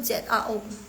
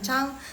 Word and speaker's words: 早: 早 itu ZAO, bukan Chang. Chang itu Marga Laoshi. Pinginnya begitu, ZHANG. Bukan. Jadi Kak Helena, langsung koreksi ya. Itu harusnya ZAO SHANG.